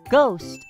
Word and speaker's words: ghost: h at the beginning in the word ghost the h is not at the beginning of the word but we still do not pronounce the h sound now let's look at